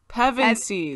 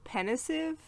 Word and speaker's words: Pevensie: Pevensies. I'm Pevensey. sorry. Okay, Good Lord. my whole life I thought it was pensive or pensive, which it's not.